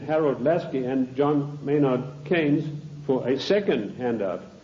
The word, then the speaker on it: Keynes: they said john maynard keynes or keynes he said Keynes was a better word because arrived with it rhymes with brains and this is a